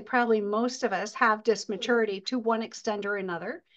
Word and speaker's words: dysmaturity: I've been calling it dimaturity for the longest time because I could not pronounce it. So Yeah, it's dismaturity.